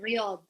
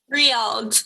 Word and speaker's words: Riyadh: The capital, Riyadh. Riyadh.